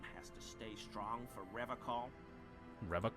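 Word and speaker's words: Revachol: to stay strong for rev call Rev call he pronounces revon with a hard K unlike other people you said R call I like to pronounce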